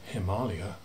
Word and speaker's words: Himalaya: origins of the name nepal are disputed but himalaya definitely comes from the sanskrit the aliyah the